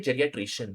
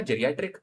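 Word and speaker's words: geriatric: जेरियट्रिक। Simple सी बात है। है ना? जे से प्रोनाउंस हो रहा है। इसको ध्यान रखना। जी से प्रोनाउंस नहीं हो रहा है।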